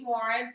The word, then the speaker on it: Morin: Amy Morin.